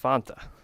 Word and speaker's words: Fanta: Or in the South, as I was arguing with my employees, Fanta. But it's pronounced Fanta. Like the old ads, the Wanta Fanta. Don't you wanta? But everyone here in South Carolina calls it Fanta.